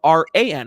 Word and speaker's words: Ran: His name is spelled R-A-N. We used to call him Ran because it was funny.